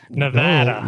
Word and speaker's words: Nevada: you do it man how's everything in Nevada Nevada look at that said it right man i'ma